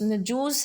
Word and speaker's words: نجاشی: و کسریٰ کہلاتے تھے۔ افریقی زبان میں نجاشی کا تلفظ نجوس ہے اور اس کا معنی